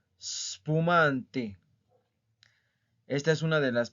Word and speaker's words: spumante: Spumante, spumante, spumante. ¿Ok? No es espumante, no. Spumante.